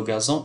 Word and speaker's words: gazon: coru glissant sur le gazon ici le G suivi d'un a g donc se prononce g gazon mais le gâteau grandissait